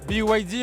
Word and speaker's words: BYD: Donc BYD hein qui se prononce bien sûr à l'anglaise, l'acronyme de Build Your